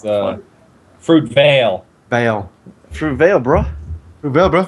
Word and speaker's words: Fruitvale: Fruitville Fruitville fruit van yeah I always say Fruitville too but it's not pronounced Fruitville it's uh fruit Veil Veil fruit Veil broil bro yeah bro like